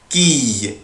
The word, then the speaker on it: quille: اخلي بالي من الصلب ده بنطقه اي اي quille quille une quille une quille.